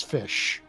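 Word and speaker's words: ghoti: And the gh is pronounced as in the gh of enough, the o as in the o in women, and the ti as in the ti of ignition.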